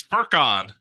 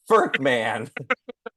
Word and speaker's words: Furkan: It's Furkan. You said Furkman.